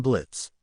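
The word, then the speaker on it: Blitzø: That sounds like Blitzo. Blitz. The O is silent.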